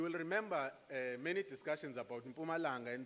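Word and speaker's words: Mpumalanga: remember many discussions about pumalanga and the english speakers will call it mapu malanga because they have a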